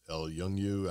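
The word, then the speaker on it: El Yunque: of Puerto Rico's rainforest, El Yungu, I can't pronounce it, in 84. So it looks like El Unique. It does, but it's like Yung, but, and so, you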